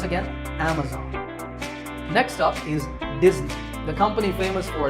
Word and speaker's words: Disney: this if you said disney that's the mistake the s in the middle is actually a z sound as you can see in the pronunciation symbols on the screen so it's disney remember number five is